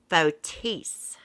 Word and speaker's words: Fotis: i don't pronounce bodus's name right it's actually pronounced fotis he is from greece well actually he grew